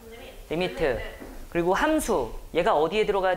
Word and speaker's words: lim: 그 림이라고 읽는 게 아니고 리미트 이렇게 읽고. 뭐라고 읽는다고? 리미트.